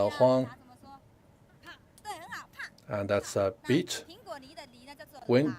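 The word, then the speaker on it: 風: So in our local dialect, wind is pronounced as huang, and that's a beat.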